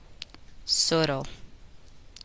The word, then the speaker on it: subtle: B is silent in the following words. Listen and repeat each word after the speaker. Debt, doubt, lamp, camp, thump, wump, subtle, soponia.